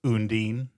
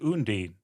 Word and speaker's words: Undine: "I've been saying it unin." and she laughed. I guess in German you would actually pronounce the e at the end.